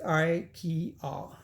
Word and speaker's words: IKEA: to look at it ikea itself is i key r right so that's three syllables and nikea is nine